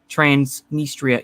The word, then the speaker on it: Transnistria: Transnistria. Yeah, okay, I pronounced it right.